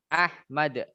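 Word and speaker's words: أحمد: Ahmad. Mimnya pendek ya, saudara-saudari. Ya, Ahmad.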